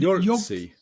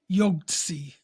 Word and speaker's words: Yogtze: And Yogtze? Yogtze. And it's spelled Yogtze.